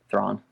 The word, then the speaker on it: Thrawn: Thrawn.